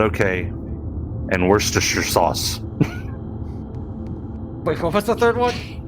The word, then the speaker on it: Worcestershire: funny i've heard it i've heard that pronounced so many different ways there was even there was even someone who called it wash your sister sauce oh my god all